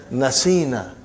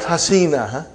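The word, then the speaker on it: نسينا: come nunu niswa so how will you pronounce now brother you will pronounce as nasina and not hasina okay and then rest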